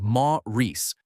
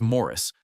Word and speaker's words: Maurice: the Shakespeare-quoting warlock who insisted his name be pronounced Ma-Reese. The joke was that Evans himself pronounced his real first name as Morris, and the writers built the entire character around the inversion.